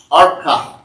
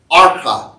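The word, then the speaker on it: ארוכה: Now the word in Hebrew for restoration is spelled A-U-R-K-A-H. Arka. Arka is how you pronounce that word.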